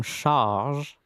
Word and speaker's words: Sharge: This is a cable from Charge, which is a brand. So it's spelled Sharge.